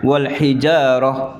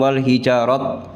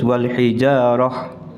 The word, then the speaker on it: والحجارة: Nah ini ta marbuto kalau di waqaf itu berubah menjadi huruf ha. Jadi wal hijarah bukan wal hijarat. Oke. Kadang-kadang ada yang membacanya wal hijarat, harus wal hijarah.